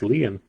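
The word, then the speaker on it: Lian: No, it's not Liam. It's Leon. L I an N. Leon. Leon.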